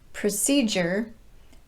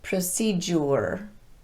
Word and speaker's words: procedure: was not reduced so we pronounce it procedure not procedure and in a similar